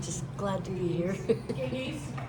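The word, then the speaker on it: Gygi: Giggy's, it's over on 3rd South.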